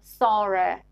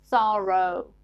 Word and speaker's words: thorough: These two words are pronounced differently in British and American accents. So in British accent, they are pronounced bore and thore. But in American English, they are pronounced borrow and thorough. British English, bore, thorough. American, borrow, thorough.